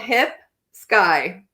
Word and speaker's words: Hipsky: find her absolutely and it's spelled hip sky phonetically so nice skye okay my